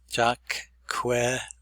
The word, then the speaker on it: Jacqueline: Q-U is K-W, que, Jacqueline.